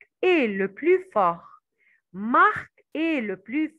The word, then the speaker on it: plus: gens qui gagnent le plus ces gens qui gagnent parce que nous avons un verbe on va étudier on va prononcer le s alors c'est des gens qui gagnent le plus mais il travailla plus